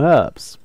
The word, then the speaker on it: herbs: Well, of course, we'll place more herbs. Herbs, I don't know how you pronounce that properly. I think you don't spell the H, so that's that.